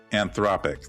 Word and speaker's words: Anthropic: And Andrea not only led the charge on the famous lawsuit against Anthropic, is that how you pronounce it? Anthropic, thank you.